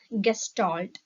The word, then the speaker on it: gestalt: It is pronounced as gestalt.